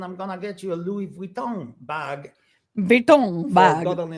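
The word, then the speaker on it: Louis Vuitton: ladies my dear friends did you not hear how he said Louis vuon that is the proper way to say it I want to hear it one more time Louis Von I can't do it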